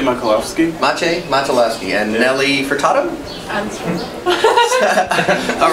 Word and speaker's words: Maciej: Maciej Machilowski. Maciej Machilowski.